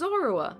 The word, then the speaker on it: Zorua: It's Zoroa. Yeah, that's his name. I just pronounced it wrong.